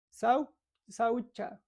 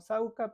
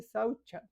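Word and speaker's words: śauca: Saucha, a veces lo dicen, se traduce como sauca, pero se dice saucha, porque la C en sánscrito se pronuncia CH, saucha.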